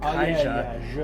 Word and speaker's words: Caixa: It's spelled with an X, but it's pronounced Caixa.